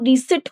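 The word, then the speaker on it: receipt: तो कहते हैं यस डू you have the रिसिप्ट please. तो यहाँ पर ये जो वर्ड है वो रिसिट होगा, इसका प्रोनाउंसिएशन रिसीट होता है। ये इसमें पी जो होता है वो साइलेंट होता है।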